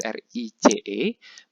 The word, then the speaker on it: Reis: Sama seperti bahasa Inggris bacanya rice, tetapi tulisannya agak berbeda. Kalau di bahasa Inggris R-I-C-E, melainkan dalam bahasa Jerman adalah R-E-I-S. E-I dibaca I. Jadi bacanya adalah rice, itu nasi.